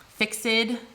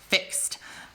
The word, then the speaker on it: fixed: that word fixed f-i-x-e-d in our modern american accents were like that is one syllable fixed and this is supposed to have 10 syllables per line because it's iambic pentameter remember the accent thing again what looks like fixed to us would be fixed to shakespeare it is an ever